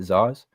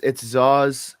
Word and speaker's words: Zoz: Is it Zaz? Yeah, it's Zoz, ZOZ.